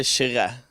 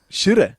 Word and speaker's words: Kyrre: How would you It's pronounce like, I would say Kyrre, Kyrre. but it makes more sense to say Kyrre because it's spelled like that.